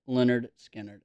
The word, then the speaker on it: Lynyrd Skynyrd: this is Lynyrd Skynyrd's first album pronounced Leonard Skynyrd and I love Leonard